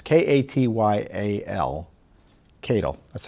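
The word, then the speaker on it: Katyal: activists Neil Keadle Cattell tape its k80 yal Keadle that's how I pronounce it he wants to talk to Rosenstein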